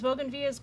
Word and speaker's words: Bougainvillea: But we're kind of spoiled because bougainvilleas grow here in Arizona, but do they grow everywhere?